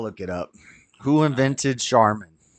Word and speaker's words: Charmin: toilet paper as Charming so with that logic it should be Charming but they pronounce it charman so maybe you're right maybe originally it was charm and over time they just started saying charman I think they just